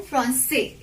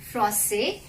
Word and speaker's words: français: So here I haven't pronounced H, I haven't pronounced S, I haven't pronounced T, I haven't pronounced S, and I haven't pronounced D. L'homme français, français est très grand, français.